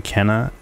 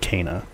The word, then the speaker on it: Kena: let's play series we're going to be playing Kenna or I guess it's Kaa Bridge of spirits